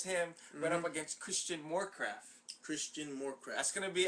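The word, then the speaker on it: Morecraft: Moorcraft. Christian rhymes with Warcraft. Moorcraft.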